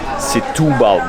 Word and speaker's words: Setúbal: Here in Setubal... Setúbal, that's how they told me it should be pronounced.